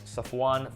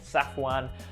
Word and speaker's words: Safwan: So my full name is Safwan, for those of you guys who don't know, or some people like to pronounce it Safwan.